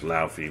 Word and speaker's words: Laufey: It's pronounced Laufey, but I'll let it slide.